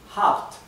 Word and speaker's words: habt: Ihr habt, ihr habt. Esta vocal, la A, se pronuncia un poco más corta que esta. ¿Por qué? Porque acá tenemos dos consonantes en vez de una consonante y una vocal.